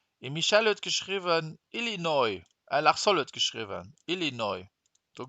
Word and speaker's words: Illinois: Et Michel hat geschrieben Illinois. Lachsol hat geschrieben Illinois. Du geht auch nicht. Don't say the S, Illinois.